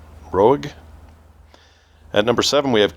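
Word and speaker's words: Roeg: Don't Look Now by Nicholas Rogue I think is how you say his name r o EEG Rogue at number seven we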